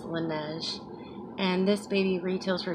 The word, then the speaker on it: Laneige: I think that's how they say it, is Laneige.